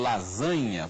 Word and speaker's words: lasanha: registram formas aportuguesadas então lasanha por exemplo que o italiano se escreve com s e com gn lasanha é assim que se fala italiano o gm italiano corresponde a nh em português lasanha e italiano lasanha